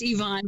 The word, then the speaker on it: Yvonne: Yvonne Yvonne why boy well it's pronounced Yvonne but it's spelled with a y y vo and any